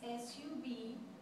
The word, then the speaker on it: subject: The first vowel in that first syllable is U, because it's followed by one consonant, then it's sub, and the second syllable, J-E-C-T, E is followed by two consonants, C-T. So how do you pronounce it? Subject.